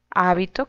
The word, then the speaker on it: hábito: Hábito con tilde en la primera sílaba es prenda de vestir.